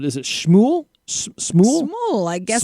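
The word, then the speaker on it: Smule: this app on her phone called, is it Shmool? Smool? Smool, I guess Smool. is how you pronounce it.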